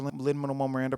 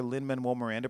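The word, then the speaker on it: Lin-Manuel Miranda: All of these are Linman Miranda projects. Let me say his name correctly. All of these are Lin Manuel Miranda projects, but that's not even all of what it is.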